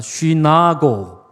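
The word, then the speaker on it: συνάγω: 쉬나고. 그렇습니다.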